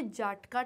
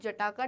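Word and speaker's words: Jataka: बहुत लोग इसको जटाका टेल्स बोलते हैं, but that is the wrong pronunciation. The right pronunciation is जाटका tales.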